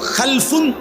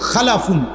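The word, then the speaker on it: خَلَفٌ: উচ্চারণের মধ্যে একটু ভিন্নতা মাঝখানে একটা লাম আছে এই লামটার মধ্যে যদি সাকিন হয় তাইলে হল খালফুন আর যদি লামের মধ্যে জবর হয় তাহলে হল খালাফুন আরবি শব্দ এ খালফুন মজিদ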